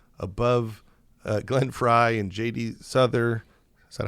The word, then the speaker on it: Souther: Souther Is that how you pronounce it?